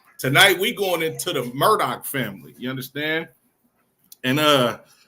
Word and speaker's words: Murdaugh: Thought I was pronouncing this wrong, too, but it's actually the Murdoch family, but not can be not to be confused with this Murdoch family.